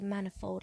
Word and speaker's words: manifold: Valentine and magazine and I bet you dear a penny you say manifold like many which is wrong say rapia appear TI